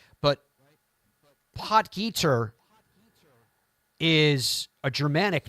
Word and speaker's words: Potgieter: The story of Aldrich Potgieter, and that is how you say his name. It's Potgieter. He's from South Africa.